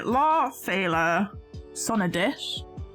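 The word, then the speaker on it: Lá breithe sona duit: La Fela Sonadit.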